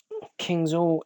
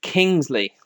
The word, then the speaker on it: Kingsley: Kingsall is Kingsley. That's how it's pronounced.